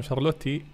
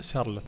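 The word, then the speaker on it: Charlotte: وسكوتك يقول لي مدام شارلوتي، لا ثواني سكوتك اسمها شارلوت، شوف اسمها شارلوت، الاي هذا ما ينطق، انا اقولها شارلوتي لانها حقي، فانتوا ما تقولون لها شارلوتي، ايش معكم يا اخوان؟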